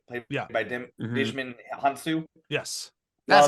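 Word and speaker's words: Djimon Hounsou: get um it's most Jakande right played by Dishman Hansu.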